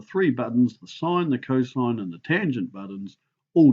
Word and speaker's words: cosine: And it gets lazy on the calculator and we abbreviate it to cos, but it's pronounced cosine.